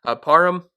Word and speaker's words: Parham: Parham, that's how you say his name.